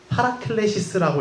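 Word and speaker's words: παράκλησις: 저 위에 파라클레시스라고 읽는 저 단어가 위로라는 단어이죠.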